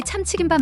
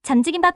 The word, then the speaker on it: 참치김밥: 여기 참치김밥 맛있어. 라고 추천해줬어요. 응, 좋아. 저는 자신있게 카운터로 가서 사장님께 말했어요. 사장님, 참치김밥 하나 주세요. 라고 말하려고 했는데 축과 지 발음이 헷갈려서 잠지김밥 하나 주세요. 라고 말해버렸어요.